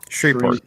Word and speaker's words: Shreveport: Captain Cat corrected me. He said it's pronounced Shreveport. Shreveport. The V is silent. Shreveport.